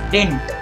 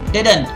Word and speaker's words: didn't: when I said didn't notice that the second D is not silent okay you shouldn't make the pronunciation as tint it's wrong don't say think it's didn't again what did I just say I said it's not then the second D is not silent it's didn't the second D has